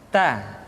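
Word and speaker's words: ت: Keluar dengan menyentuhkan ujung lidah kita dengan gusi-gusi gigi seri bagian atas. Ta.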